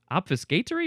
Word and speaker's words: obfuscatory: Some UK pronunciations may skip the final T sound. Obfuscatory. That's British English. British English, double shush. That makes sense. The American English way is to emphasize the fuss and the tor.